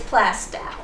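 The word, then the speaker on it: Plaistow: And one lady said, it's Plastow, as in cow. Another lady said, oh no, it's Plasto, as in toe.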